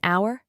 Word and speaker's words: hour: Words beginning with a silent H. Example: an hour, an heir, an heirloom, an honest man, an honorable man, etc.